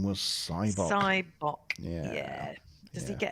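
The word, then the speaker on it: Sybok: Andrew correctly said the other child's name was Cybok.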